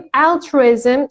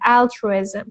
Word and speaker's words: altruism: وقتی میگیم altruism استره سیلاب اوله altruism.